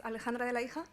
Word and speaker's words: Alejandra De La Hija: So yeah, as my colleague was saying, my name is Alejandra De La Hija. That's the way to pronounce it, so you are not that far away.